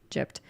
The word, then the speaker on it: gyp: I always thought in my mind like I've just heard the word jipped and I thought it was spelled like J I p like in my mind but apparently it's gy p and it's like a insult on gypsies.